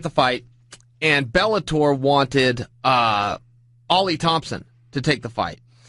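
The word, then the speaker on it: Oly: I called him Ole Thompson because that's how his name is spelled, O-L-Y, Thompson, all night on the mic, and Fish jumped in my ear, in my IFB, and said, it's pronounced Ollie.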